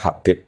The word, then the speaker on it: Habib: Itu di harakatnya kitab itu ada yang nulis tubab. Tapi yang benar Oh, nggih. Yang benar itu bacanya habib.